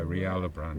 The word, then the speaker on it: Rialobran: Yeah, Rialobran.